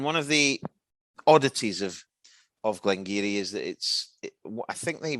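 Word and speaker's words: Glen Garioch: Glengeary. 1,140 feet on the website from the bus stop to Glengeary, or Glengarioch, as it's read, but pronounced.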